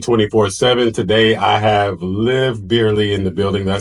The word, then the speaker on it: Bierley: Today I have live beerly in the building.